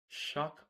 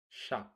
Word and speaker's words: chaque: Chaque. Is that pronounced correctly? It's very close. The sound is a bit softer, more like shack, with the ch sounding like the sh in ship.